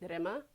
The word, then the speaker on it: Rima: My name is Rima, and my name's Lithuanian, and you pronounce it Rima. Most people just think that my name's Rima or Rima, but it's not. And if you can roll your R, that's the right way to say it, but I usually just tell people it's Rima.